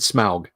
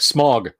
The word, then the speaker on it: Smaug: But okay, Tolkien pronounced it Smaug. When I was a kid, I was like, Smog.